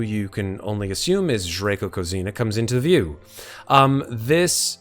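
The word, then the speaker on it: Sreyko: It's actually spelled S-R-E-Y-K-O. Pronounced Draco.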